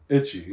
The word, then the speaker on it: Ichi: Did I say Ichi? Itchy, yeah. Like Ichi. What? Like Itchy and Scratchy from The Simpsons?